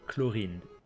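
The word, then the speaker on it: Clorinde: And the way we pronounce it in French would be Chlorinde.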